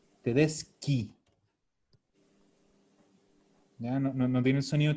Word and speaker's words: Tedeschi: Tedeschi. Sí. Ki. Tedeschi. Ya no tiene el sonido chi, es ki. Tedesca. ¿Y el plural de Tedesca? Tedesque. Tedesco. Tedesque. Tedesco, Tedeschi, Tedesca, Tedesque.